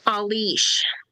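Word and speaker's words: Ailís: Alish that is uh no it's a i l i s pronounced a y dash l i sh meaning no noble honest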